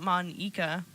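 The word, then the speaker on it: Monika: name at all yeah it's Monica not Monica moneka how is Natsuki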